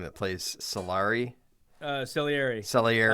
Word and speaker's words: Salieri: Salieri. That's how you say it.